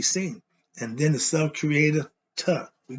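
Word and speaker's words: Ptah: And then the self-creator, Ta. We call him Putta, or the P is silent.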